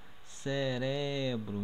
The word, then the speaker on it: cerebro: Aqui no português a gente fala cérebro, ok. Só que em espanhol a gente pronuncia cerebro. Então o som forte está no R aqui, tá? Cerebro.